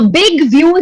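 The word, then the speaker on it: Zbigniew: Now Big View, Z is silent.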